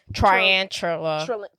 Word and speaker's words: tarantula: Tarantula? No, Tarantula. I said it, and then you said it wrong, and now I no longer have I'm it. saying it wrong. Tarantula. Tarantula. Okay, you got it wrong too. Well, I wasn't looking at Tarantula. What is it? We were saying try. It's tarantula. Tarantula.